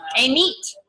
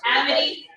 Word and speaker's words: Amit: A meat. I know, everybody in my office calls it amity. I go amity, I'm like, no, it's a meat, guys.